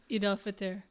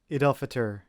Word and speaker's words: Eid al-Fitr: How do you pronounce this? Eid al-Fitr. Eid al-Fitr, which is the festival of breaking fast, and